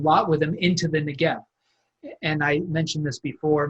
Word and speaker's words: Negev: the letter bait but it's pronounced in this context like a V so the right way